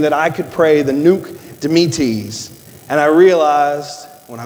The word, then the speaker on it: Nunc Dimittis: I had to call a friend so that he could teach me how to pronounce it. It's nice to know a guy. Nunc Dimittis.